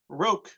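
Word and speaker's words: רוק: Rok.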